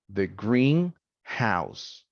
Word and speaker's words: greenhouse: live near the greenhouse the first one has the primary stress syllable but not the next one right it's it has secondary uh stress and because it